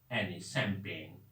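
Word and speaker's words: champagne: इसका भी spelling S से नहीं होगा, सी से होगा, CHAMPA, यहां तक चंपा, है ना। और उसके बाद GAINE, शैंपेन। शैंपेन मतलब ड्रिंकिंग बॉटल, है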